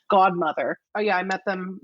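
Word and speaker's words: Gaudmother: They go by, and it's spelled Gaud, like gaudy, Godmother.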